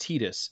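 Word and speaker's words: Tidus: so obviously they very very uh yeah it's pronounced tetus it means sun in the okan dialect just as Yuna means Moon A lot of people use kh2 to back up the Titus argument but k2's voice recording was handled by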